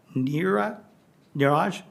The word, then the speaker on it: Niraj: Washington Industrial Technology Education Association named Niraj, rhymes with garage, of course, Niraj Agnihotri of Meeker Middle School as a Teacher of the Year for 2024-25.